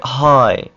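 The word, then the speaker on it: high: सब में आपने देखा सबसे पहले हाय देखिए एच आई को य आप प्रोनाउंस कर रहे हैं हाय आगे जो जी और एच है इसको आप बिल्कुल नहीं प्रोनाउंस कर रहे क्यों क्योंकि ये जी और एच का क जो है यह वल के बाद आ रहा है इसलिए उसको प्रोनाउंस नहीं करना इसी तरह लाइट डॉटर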